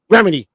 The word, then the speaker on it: Remini: not Rhymes, but I don't know how to pronounce her name. Remini, yep. Remini.